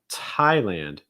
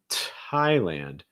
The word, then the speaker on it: Thailand: indonesia our next one thailand thailand key thing here again that t is actually going to maintain that that t sound it's not like thigh or thy it's thai thailand thailand